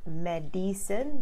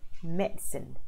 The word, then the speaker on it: medicine: see I am a Mets and so not Madison the eye in the middle is not pronounced people used to pronounce I need to get some medicine from the doctor no no no no no